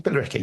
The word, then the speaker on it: Billericay: Is that how I pronounce that one? Billericay. You got it, yeah.